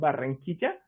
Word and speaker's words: Barranquilla: I'm located in a city called Barranquilla, which is in the Atlantic coast of Colombia, Caribbean coast.